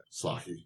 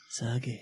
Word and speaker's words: sake: Saki.